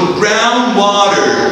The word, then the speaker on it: groundwater: ما ننطقش الدي اللي في النص نقول groundwater.